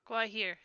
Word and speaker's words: Gwaihir: Athy, it's pronounced Gwaihir, right? Gwaihir.